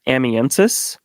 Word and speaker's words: Amiensus: The way that I've always said it is Amiensus. Okay. So I hear a lot of Amiensus.